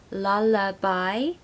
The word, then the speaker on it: lullaby: that lullaby pronunciation tip lullaby should be three syllables lullaby and we need a schwa sound in the middle so la la bye